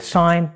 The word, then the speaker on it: sign: For example, in the word sign, design or foreign. The G is silent before the N.